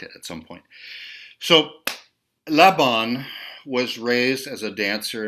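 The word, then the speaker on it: Laban: have and Rudolph Von Labon and so the the accent this Hungarian person's act the accent on his last name is on the first syllable Labon not Labon but Lebon so he was born in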